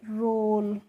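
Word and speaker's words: role: रोल।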